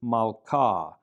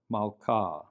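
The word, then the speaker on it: מלכה: And so the word for queen is malka, but you don't pronounce the H there, malka, malka.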